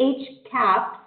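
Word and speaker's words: HCAHPS: Center for Medicare and Medicaid Services and if each cap is the way that we pronounce the hospital consumer assessment of healthcare providers and systems questionnaire however we recognize that the age cap survey was developed primarily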